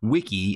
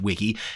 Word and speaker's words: Wike: This application is called Wike, and it's actually spelled W-I-K-E. At least I think it's probably meant to be pronounced Wiki.